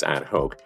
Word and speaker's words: ad hoc: The term ad hoc, sometimes pronounced as ad hoc, means created or done for a particular purpose or as necessary.